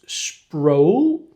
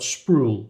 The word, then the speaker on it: Sproul: So, so, so David, David, if you're watching this, it's Sproul, not Spruel. Rhymes with soul.